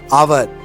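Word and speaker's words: hour: हैं listen for example H ओ यू आर यहां पर एट को साइलेंट किया जाता है और फिर यूज किया जाता है आवर तो दिस प्रोसेस कॉल्ड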